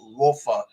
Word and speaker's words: Lofa: Very often, my people would rather prefer, the pronunciation is Rofa Julius.